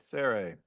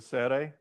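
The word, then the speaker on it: צירה: So you have the sere, all right, sere, as in they, okay?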